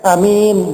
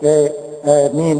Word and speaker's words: Amin: pakai tas tidak P jadi Amin boleh juga sana imalah ini yaitu bacanya a-nya itu e jadi seperti imalah agak antara a dan E gitu ya e e Min Ya itu bisa juga